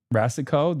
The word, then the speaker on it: Rasicot: Rasicot, the T is silent.